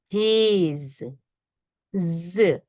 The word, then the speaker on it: he's: we pronounce it it's he Z notice in the end is z even though when we write we write s but the sound is z he's intelligent similarly for she